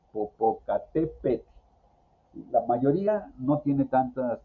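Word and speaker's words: Popocatépetl: Pero cuando es una vocal más TL, definitivamente si hay dificultades para su pronunciación.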